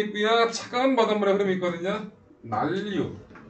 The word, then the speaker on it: 난류: 난류, 한류. 이거 뭐라 읽는다? 난류라고 읽는 거야. 난류라고 읽는 게 아니라 난류, 한류라고 읽는 거야. 난류, 한류 이따고 읽지 말고 자음동화 해야 된다고.